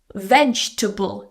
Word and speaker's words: vegetable: So again, a common misprononunciation is vegetable. I know it looks like it has table at the end, but it's vegetable. Just three syllables here. Vegetable.